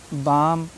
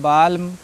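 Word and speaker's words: balm: ऐसे नहीं पढ़ना है क्यों क्योंकि एम से पहले एल आया है ना तो एल साइलेंट है मुख है उसका प्रोनाउंस नहीं करना है आपको ठीक है भूल जाइए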